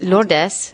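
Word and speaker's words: Lourdes: okay yeah and um is it Lords or lordes I never know how to say it lordes is well that's the pronunciation of her baptismal name but we call her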